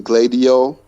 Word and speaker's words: Gladio: and uh douglas correct me on the the pronunciation of this but operation gladio okay yes you got it right thank you